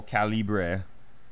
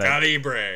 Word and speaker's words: Calibur: So I went with this Soul Calibur, I believe is how it's pronounced. That is exactly how it's pronounced. Don't question us. We're the authority here. Come on. They taught me that Calibur.